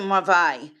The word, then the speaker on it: Merveille: ombre de Merveille.